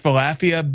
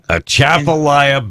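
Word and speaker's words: Atchafalaya: somewhere in the at I can't ask falafia Basin is that did I say it wrong achafalaya Basin yeah there you go in Southwestern Louisiana in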